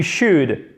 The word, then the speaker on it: should: You should, on ne prononce pas le L.